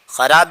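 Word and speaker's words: خوار: याद रहे यहां पर यह वाव पढ़ा नहीं जाएगा। जैसे और जबानों के अंदर कुछ हुफ साइलेंट रहते हैं। ऐसे ही उर्दू जबान के अंदर भी कुछ हुफ साइलेंट रहते हैं। उमूमन अलिफ, वाव और या ये तीन हुफ ऐसे हैं जो उमूमन उर्दू के अंदर साइलेंट रहते हैं। तो यहां पर यह वाव उसको पढ़ा नहीं जाएगा। उसको खार पड़ेंगे और इसका माना होता है जलील।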